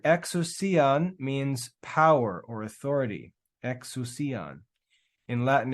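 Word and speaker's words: ἐξουσίαν: He gave to them exousian. Exousian. This squiggly crazy letter is a xi. It's pronounced like an X.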